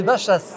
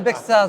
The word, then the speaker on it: Baixas: Bea la mairie de Bachas. Alors si vous allez à Bexas, demandez à Bachas et si vous allez à Bachas demandez Bexas et vous serez à Bachas et à Bexas.